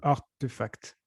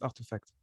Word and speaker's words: RTFKT: incompréhensible, RTFKT, en fait, il faut le prononcer en anglais. Le R se prononce R, Art. et du coup, Artefact.